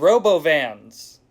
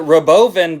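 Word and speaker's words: Robovan: self-driving cyber cabs and Robo Vans Elon Musk pronounced that Roven but I know what those two words look like that's Robo van anyways Tesla's stock immediately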